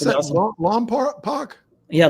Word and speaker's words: Lompoc: Now, how do you pronounce Pretty that? awesome. Lompoc? Yeah, Lompoc.